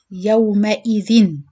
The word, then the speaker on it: يومئذ: The next, يومئذ. This is how you pronounce the normal tanween.